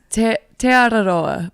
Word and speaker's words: Te Araroa: It's Te Araroa.